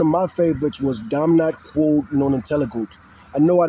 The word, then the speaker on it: quod: Quod, like quad.